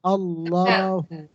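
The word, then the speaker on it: الله: Allahu Allahu Allahu kemudian kapan lagi lafaz Allah dibaca tebal apabila lafaz Allah lafzun jalalah sebelumnya berharakat fathah ini ada Allah kemudian wya sebelumnya berharakat fathah atas qulhuallah tebal P Allahnya Qul huallahu Jangan dibaca tipis qulhuallah salahlhuallah Qul huallah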